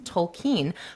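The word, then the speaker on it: Tolkien: you know I was like how do you pronounce this last name and I searched it up and it actually is tolken but he he like swore up and down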